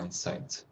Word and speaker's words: Mindsight: pronounce it? Sorry. MIND Uh-huh. SIGHT. Okay. Yeah. SIG. HT. Oh, okay. Yeah. Mindsight.